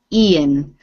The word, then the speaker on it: Ian: And this name with the I at the beginning, this is Ian.